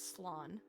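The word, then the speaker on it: slán: Slan, losers. A quick way of saying goodbye in Irish, a shortened version of I'm so sorry. Slan Abail, or safe journey home. One dialect would pronounce it as Slan.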